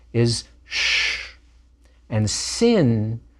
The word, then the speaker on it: sin: letter is sh and sin with a DOT at the upper left is an S sound nowadays it's pronounced just like a s early in the history